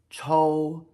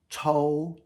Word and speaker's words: chou: So shou rhymes with chou, and you also rhymes with chou, just different tones.